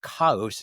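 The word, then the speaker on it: χάος: So the ancient Greeks their word for chaos kaos as they pronounced it maybe means a gap or a doorway.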